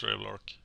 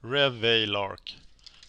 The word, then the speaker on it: Revelark: Revelark. Revelark. Like that.